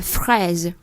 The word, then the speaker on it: fraise: La fraise. Tiếng Anh chúng ta có chữ fresh. Bây giờ fraise. Bây giờ chúng ta mở cái miệng rộng hơn một chút.